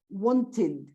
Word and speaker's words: wanted: I mean, so in that case, you pronounce id. Wanted.